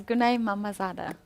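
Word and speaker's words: Günay Məmmədzadə: How would you pronounce the name of white? That's my area. Yeah, I know It's it is. It's Gunay Mamazada.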